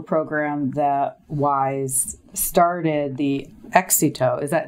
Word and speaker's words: Éxito: So talk to me about this program, this bilingual program that WISE started, the Éxito. Did I say it correctly? You did. Éxito.